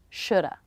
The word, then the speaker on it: shoulda: with is the schwa shoulda woulda coulda note that the L is silent in these words and they all have